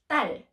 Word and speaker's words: 딸: So daughter is, it's hard to pronounce. It's 딸. 딸. There is a double T good.